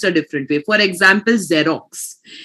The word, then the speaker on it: Xerox: For example, Xerox, it starts with an X but you pronounce it with a Z, right?